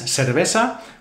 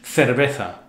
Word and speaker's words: cerveza: Every tourist's favorite word, how I would pronounce it because I live here in the Canary Islands, cerveza, would be in standard Spanish, cerveza.